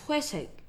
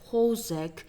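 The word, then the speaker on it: 회색: Time's up, it's Hwesek. But you may pronounce it as Hosek, Hosag, or the minority of you will have actually gotten it right.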